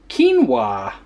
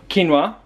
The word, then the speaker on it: quinoa: a little different tonight quinoa which is absolutely not how I would have pronounced that if Adele didn't already pronounce it so we've got quinoa obviously some garlic powder